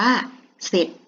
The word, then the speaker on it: เสร็จ: นะ คะ คำ ว่า เสร็จ เรา ก็ จะ ไม่ อ่าน ออก เสียง ร เรือ เพราะ ว่า เป็น คำ พูด กล้ำ ไม่ แท้ นั่น เอง นะ คะ คำ นี้ อ่าน ว่า เสร็จ นะ คะ เด็ก อ่ะ